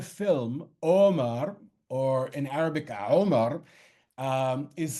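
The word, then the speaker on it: عمر: Both the name of the film, Omar, or in Arabic, Omar, is spelled as you would expect it to be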